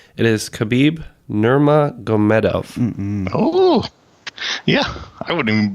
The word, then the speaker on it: Nurmagomedov: It is Khabib Nurmagomedov. Oh, yeah. I wouldn't even been able to spell that. Gonna be a real barn burner, I bet. Ken couldn't even say it. Yeah. Nurmagomedov. Okay. Nurmagomedov, right? Nurmagomedov?